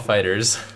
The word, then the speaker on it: FighterZ: Officially pronounced Dragon Ball FighterZ.